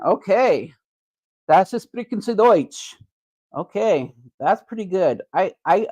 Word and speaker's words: Deutsch: Deutsch is how you say it in German.